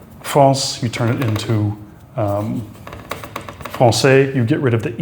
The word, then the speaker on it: français: And that basically just means it turns it into an S sound. One of the most common places in which you would see this is in the word français, French. It's not franquet without the cd. It would be franquet. This way, it's français.